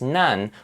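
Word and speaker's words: 何: nansai meaning what age nani by itself means what and this also changes to be pronounced as just none when other words come right after as in nansai now psi is what's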